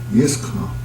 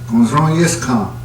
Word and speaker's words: Yiskon: How would that be pronounced in Apache? Yiskon. If I was back 100 years, 200, 300 in the camp, or even here at the office, I can say, Yiskon.